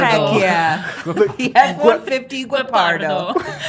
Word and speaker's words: Guepardo: It is Guepardo. Heck yeah. The F-150 Guepardo. You gotta roll that I R.